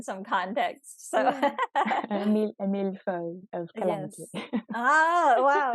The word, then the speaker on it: millefeuille: How do you pronounce the millefeuille? Like the Millefeuille.